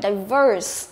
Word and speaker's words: diverse: Từ này đọc là diverse, có nghĩa là đa dạng.